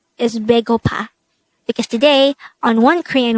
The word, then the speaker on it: 배고파: Baegopa. Baegopa. This is pronounced as a three-syllable word. The first syllable is be, the second syllable is go, the third syllable is pa.